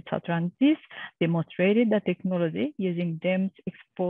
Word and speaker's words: Satlantis: The pronunciation is Satrantis, demonstrated the technology using GEM's experimental platform.